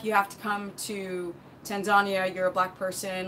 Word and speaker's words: Tanzania: and he had gone to Tanzania as the Tanzanians call it Tanzania to learn Swahili so in